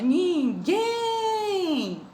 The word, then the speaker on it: ninguém: Como é que ela é oxítona? Ninguém. Repitam comigo. Ninguém. Em qual a tia demorou mais? No gen, que é a última sílaba.